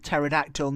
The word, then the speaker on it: pterodactyl: paroda the ter pterodactyl pterodactyl known as a pterosaurus pterosaurus p obviously when you pronounce that PT it's kind of like a silent P Tera terrasaurus are flying